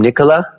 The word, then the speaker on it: Nicola: hey Jay hi Nicola is that how you say your name Nicola that's how you say it well done ah cool good to